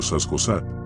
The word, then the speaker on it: Sasgosat: Se ha aliado con el demonio Sasgosat. La parte Sa se pronuncia con Z dura.